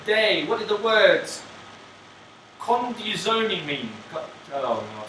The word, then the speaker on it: condizione: Conduzione. Conduzione. Condizione.